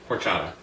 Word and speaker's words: horchata: Horchata.